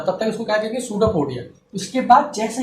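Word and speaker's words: pseudopodia: तो ये जो होता है इसको हम लोग कहते हैं सूडोपोडिया। भाई स्पेलिंग मत देखना, वैसे स्पेलिंग अगर आप तो सही है ना।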